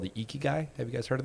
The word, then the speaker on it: ikigai: That is, there's a great, kind of process you can go through called the Ikigai.